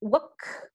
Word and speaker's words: walk: Pay attention to the pronunciation of walk. You don't pronounce the letter L.